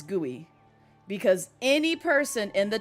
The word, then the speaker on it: GUI: Um so you do not pronounce it as guy or gua or gui. you pronounce it as guey because any person in